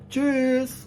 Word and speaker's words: tschüss: उसके बाद ये साउंड देखिए आप, TSCH, TSCH अगर किसी भी वर्ड में इकट्ठा आ जाता है तो तब हम इसको क्या प्रोनाउंस करेंगे. तो इसका साउंड हमेशा होगा च. च जैसे zum Beispiel tschüss, tschüss.